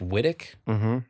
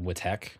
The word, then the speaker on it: Wittek: out here with uh Jeff FM AKA Jeff Whit yeah you nailed it Logan calls it whch which I think is rude what's the deal